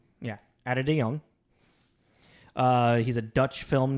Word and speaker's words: Ate de Jong: by uh uh I looked up how to pronounce this let's see if I remember adong yeah adong uh he's a Dutch film director filmmaker really